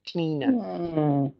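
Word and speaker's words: Clíodhna: you uh cleaner cleaner oh that's how you pronounce her name cleaner nice Irish Irish goddess beautiful so one of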